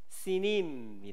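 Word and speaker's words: סִינִים: 시님이 된 겁니다. 시님. 차이나의 히브리식 발음이 뭐냐면 신이에요.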